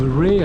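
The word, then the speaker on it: Wray: So here we are, just passing through the little village of Ray, I think it's pronounced, W-R-A-Y.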